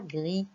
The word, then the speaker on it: gris: Donc, on a trouvé le S et on va mettre un chat gris. Gris s'écrit avec un S à la fin.